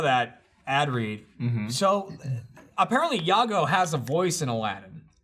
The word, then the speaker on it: Iago: I mean, Iago. it rolls off, but it's two syllables.